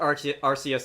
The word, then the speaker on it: Arceus: fact that if any official medium calls it Arceus, that's probably the official pronunciation. I call it Arceus anyway, just because that sounds better in my head.